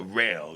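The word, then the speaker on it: Rahl: we got Zachary uh rail you know I think it's spelled r-a-h-l just to pronounce it right and be proper got 10 years you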